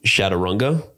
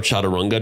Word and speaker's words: chaturanga: of an evolution of the game shatunga or chaturanga depending how you pronounce it in India and